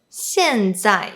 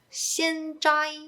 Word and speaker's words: 现在: So when Cantonese speakers pronounce the fourth tone, they usually don't drop the sound low enough, therefore sounding like the first tone, which is a high tone. For example, 现在 might be pronounced as 现在。